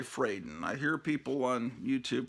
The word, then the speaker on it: Fradon: I was always pronouncing her name Ramona Fradone. I think it's actually Fraden.